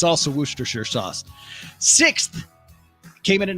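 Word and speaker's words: Worcestershire: wer Shire sauce right looks like Worchester Worchester Shire sauce which I think some people say that's the correct way to say it Worchester Shire sauce but it's werer sauce wer sure and I I don't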